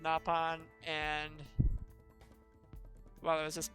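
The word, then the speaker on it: Nopon: I'm sorry I've been I originally pronounced it no pan but after I realized it was in the other games it's pronounced napan and while I was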